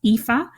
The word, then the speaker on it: Aoife: but just in case it's spelled AO i f that's epha and my surname is O Apostrophe b r i n my guest today has been epha founder of happier